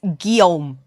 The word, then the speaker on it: Guillaume: How the fuck do those letters make Guillaume?